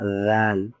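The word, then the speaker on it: ذال: এরপরে এটার নাম হলো রাল। এটা জ দিয়ে লিখেছে কিন্তু এটা উচ্চারণ হবে একদম পাতলা।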